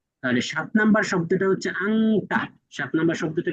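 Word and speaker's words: أنت: অথচ এই শব্দ কোরনে পড়তে গেলে উচ্চারণ হবে ইফা হিসেবে আংতা অনুসার দিয়ে উচ্চারণ হবে কোরআনে পড়তে গেলে কি হবে বলেন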